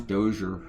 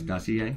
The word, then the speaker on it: dossier: And then she started giving me grief about the way I pronounce Dozier. Dozier. Now I'm just doing it to piss her off. I know it's dossier, right?